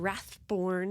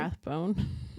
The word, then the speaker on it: Rathbone: Jackson Rathborn. Is that how you say his name? Rathbone. Ah, dang. Born sounds way cooler.